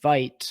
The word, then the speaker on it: Vite: It's supposed to be pronounced Vite.